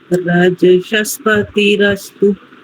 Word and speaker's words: रजसस्पतिरस्तु: रजसस्पतिरस्तु। बस बढ़िया हो गया आपका उच्चारण भी।